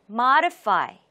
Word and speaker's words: modify: modify, modify. 첫 음절에 강세가 있습니다. modify.